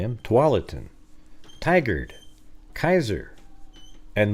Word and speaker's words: Tualatin: I challenge the troll to pronounce the following Oregon towns. I can say them: Tualatin, Tigard, Kaiser, and Multnomah.